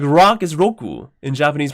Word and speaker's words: Roku: No, Roku is genius actually because rock in Japanese pronunciation is Roku.